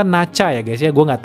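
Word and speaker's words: Nezha: Gila keren banget gitu By the way Neza itu bacanya ternyata Nacha ya guys ya gua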